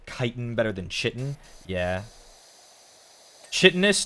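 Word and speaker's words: chitin: It's not Itch or maybe it's like that word um you know the word kiten. C h i t i n. Kitan. I think that one is I hear people pronounce that as Chitten a whole lot. Chittis, but I'm pretty sure it's Kitan Eore.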